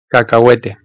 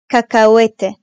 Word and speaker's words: cacahuete: H harfi ise yalnız başına kullanıldığı zaman, yani C'den sonra gelmediği her durumda hayalet bir harftir, okunmaz. Yani varlığı yokluğu bir harf. Hielo. Ahora. Coherente. Cacahuete. Hielo. Ahora. Coherente. Cacahuete.